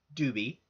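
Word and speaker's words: Dube: But she's well worth the watch, so I highly recommend that you check out Carolyn Doobie. And Carolyn is spelled C-A-R-O-L-Y-N, and her last name is spelled D-U-B-E.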